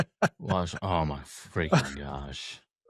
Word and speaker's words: gua sha: It's spelled gu a space s h a guasha. Oh my freaking gosh. Guasha.